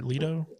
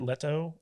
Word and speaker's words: Leto: so everything with jared leto or lido i know you're really trying and it's hilarious how bad you are pronouncing that i have a hard